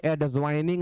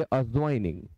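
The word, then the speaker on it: adjoining: कहे और एडजस्टमेंट कहे ऐसे ही एडज्वाइनिंग लोग बोलते हैं बिल्कुल गलत आप बोलिए अ जॉइनिंग तो इसे अजन पढ़िए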